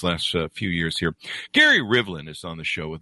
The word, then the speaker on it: Rivlin: Gary Rivlin is on the show with us today. Gary, did I get your last name pronounced correctly?